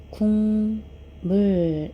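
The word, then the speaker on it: 국물: 음문의 변동이 일어나지 않는데 뒤에 미음이 왔을 때 미음의 영향을 받아서 앞에 있는 기억이 이응으로 변합니다 그래서 실제로 발음을 해보면 궁 물 이렇게 소리가 나죠 자 요렇게 인접하는 미음의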